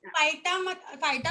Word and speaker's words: phyta: हाँ, फाइटा बोल सकते हो Indian pronunciation, but actually that is फिटा बेटा, ठीक है।